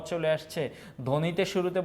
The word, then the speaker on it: ধ্বনি: বলি সবদেশ বলি না তারপরে জ্বালা এটা কিন্তু জাবালা বলি না সাপদ সাবাপদ বলি না ধ্বনি বা হচ্ছে ধবনি বলি না স্বামী সাবামি বলি না তার মানে ব এর